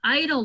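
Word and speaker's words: EIDL: that is there the idle loan so that is the biggest rumor ville right now so it's the economic impact disaster loans idle is how the accountant told me he's pronouncing it like that makes sense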